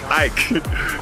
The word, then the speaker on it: Ike: Ike is the real name of saying my name because I'm Nigerian.